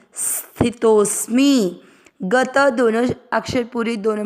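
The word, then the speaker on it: स्थितोऽस्मि: और म पूरे पर इ की मात्रा मी स्थि तोस मी गत दोनों अक्षर पूरे दोनों में अ मिक्स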